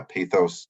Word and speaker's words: pathos: credibility we have ethos pathos and logos ethos is credibility uh pathos or pathos some people pronounce it both ways is emotional appeal and